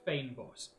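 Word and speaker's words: fynbos: there f-y-n-b-o-s is pronounced Fame boss it is an Afrikaans word um oh hydroponium creates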